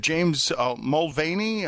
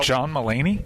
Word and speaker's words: John Mulaney: Don leard who is the comedian is it James mulany how do you pronounce his uh John malany uh there you go thank you John meany